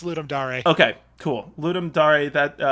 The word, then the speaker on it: Ludum Dare: i think yeah i i used to call it ludum dare it's it's ludum dare okay cool ludum dare